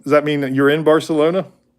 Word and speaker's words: Barcelona: You in Does that mean that you're in Barcelona? Or is it Barcelona? You have to say Barcelona? I heard somebody say that on TV once. I didn't know that. That's how they pronounce it.